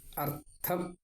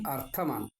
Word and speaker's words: അർത്ഥം: അർത്ഥം, അർദ്ധം. ഇവിടെ ധനാർത്ഥം ആണ്. ഒരു ചെറിയ ഉച്ചാരണത്തിൻ്റെ വ്യത്യാസം കൊണ്ട് അർത്ഥം വളരെ വ്യത്യാസം വരും. അർദ്ധം പകുതി, അർത്ഥം സ്വത്ത് മുഴുവൻ.